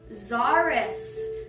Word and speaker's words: Zaris: Zaris. Tricky little Z-sounding name.